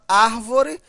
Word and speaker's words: árvore: olha só a palavra árvore. Veja a sílaba tônica, olha só, a última, a penúltima e a antipenúltima. A sílaba tônica é a antipenúltima, portanto, uma proparoxítona.